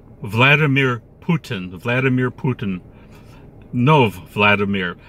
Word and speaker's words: Vladimir: No, Vladimir. Vladimir Putin.